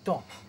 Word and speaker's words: temps: Oui, monsieur, mais c'est pas l'OTAN, hein? C'est pas le ton, non, c'est pas le ton, c'est le temps.